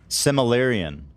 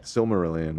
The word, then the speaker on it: Silmarillion: What the fucking the Minecraft lore is like this Similarian. Yeah. Is that I say it right? Silmarillion, I believe.